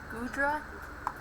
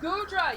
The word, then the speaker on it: Goodra: likes a lot i'm not sure if i pronounce this right but gudra is his favorite dragon type i'm not sure if i pronounce that right okay is it hoopa goodra oh goodra yeah guru drum's actually a great dragon type